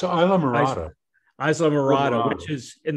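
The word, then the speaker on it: Islamorada: It's Isla Morada. Is that how you say it? It's Isla Morada.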